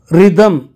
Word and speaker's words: rhythm: Rhythm. This H is silent.